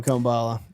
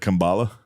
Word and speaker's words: Kamala: Kambala. Oh, Kamala. He's like, I called her Kambala. I was just joking around, but they're acting like I mispronounced it.